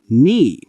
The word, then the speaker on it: knee: Examples: K is silent, no, knife, knee.